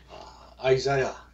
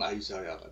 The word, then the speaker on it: Isaiah: 자, 이사야, 아이사야, 영어식 발음은 아이사야가 되겠죠?